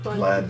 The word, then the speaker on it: Vlad: I heard Lad, not Vlad. Okay, then Vlad.